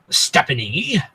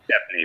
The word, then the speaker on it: Stepney: Yeah, I know him, and I also know Stephanie, and I also know. Stepney, by the way. I'm sorry. It's Stepney. That's what I said, Stephanie. No, it's Stepney, not Stepney. You pronounced it wrong, Scotsman.